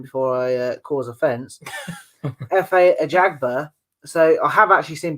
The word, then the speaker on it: Ajagba: And we're just going to double check how to pronounce his name before I cause offence. F.A. Ajagba.